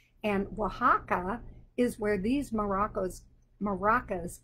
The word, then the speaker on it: Oaxaca: the country of mexico this state is called oaxaca and i made it pink today o x is how it's spelled it starts with the letters o x and oaxaca is where these morocco's maracas came from but